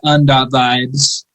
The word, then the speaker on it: un.vibes: It's actually pronounced un. Yeah. Un vibes. One vibes. One. Yeah. Based on a Latin X band. Latin X Doom. Un. UN. Like the United Nations vibes.